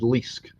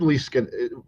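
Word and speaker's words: Leask: one this is by David Liske no David Lee scan well as point out that rhymes with mollusk David Liske was the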